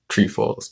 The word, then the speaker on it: Trefoils: That's why I got outside and got her 2 boxes of her favorite ones, which is trefoils. Trefoils is the actual pronunciation.